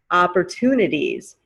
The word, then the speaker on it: opportunities: in the beginning opportune of course we say the t toon opportunities it's at the end of the word where the t turns to a d sound opportunities we have some